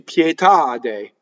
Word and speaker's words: pietà: Now, here we have an accent on the last syllable. Though this word used to be pietà, and for the poetry they cut it off, right? And for modern Italian, it is a truncated word. So it has the stress on the ultimate syllable. pietà.